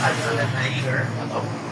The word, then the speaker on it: Alexander Naeger: This is the chef Alexander Naeger. That's right, I pronounced it right.